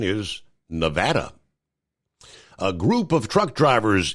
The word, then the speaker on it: Nevada: Uh, I've always said Nevada, yet the correct pronunciation is Nevada.